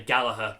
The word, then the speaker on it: Gallagher: stuff about playing Rory Gallagher's stuff there's a couple of hints but I was yeah I should say Gallaher not Gallagher sorry I do apologize